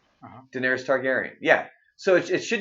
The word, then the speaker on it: Daenerys: buzz does this when they call her Denarius that's not how her name is spelled it's just YS and on the end it's not like Y us which would be Denari us its Daenerys if you look up